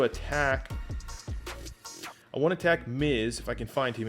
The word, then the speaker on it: Mize: hit righties very well casey miz or mize however you pronounce it i believe it's miz not having a great